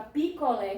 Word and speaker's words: picolé: Como, por exemplo, no caso da palavra picolé, que já tem acento. Ó. Já tem acento. Então, a sílaba tônica é o lé.